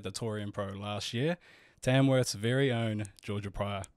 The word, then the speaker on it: Tamworth: you said Tamworth we've said tamsworth every time um yeah but Julia Hanford corrected us that there's no yeah no PL no plural no just Tamworth yeah tamsworth sounds that's